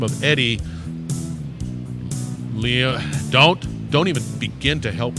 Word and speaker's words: Liongosari: Edy Liongosari. I wasn't even close. I was panicking there. You'll get the first syllable.